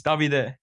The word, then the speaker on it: Davide: It's Davide. Yeah. You basically got it correct second try.